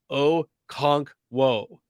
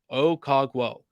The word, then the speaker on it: Okonkwo: So he was like, guys, it's really easy to pronounce. Okonkwo. Okonkwo.